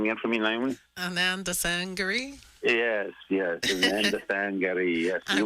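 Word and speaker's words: Anandasangaree: Ottawa Gary say his name again for me Ananda sangary yes Yesa sangary yes I've been trying and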